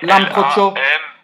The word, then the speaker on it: Lambroccio: Oui, Lambroccio. L-A-M-B... Ah non, c'est Cho, hein.